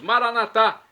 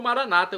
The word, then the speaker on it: Maranatá: E agora eu clamo do aramaico, dialeto de Jesus, Maranatá, como dizemos nós católicos, ou Maranata, como dizem nossos irmãos separados, os evangélicos ou protestantes. Não importa a pronúncia, o significado é o mesmo: vinde, Senhor Jesus.